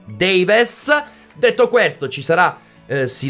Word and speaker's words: Davies: dal primo minuto ovvero tom davies o davis per cercare di accorciare la pronuncia e renderla più semplice anche se correttamente si dice tom davies detto questo ci sarà